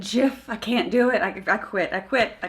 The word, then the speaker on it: GIF: um like because like the guy who invented the format says it's pronounced jiff but that doesn't matter